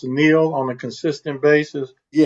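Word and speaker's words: NIL: How many uh is the is that pronounced Neil on a consistent basis? Yes. Name, image, and likeness. So they they do call it Neil. Everybody calls it Neil.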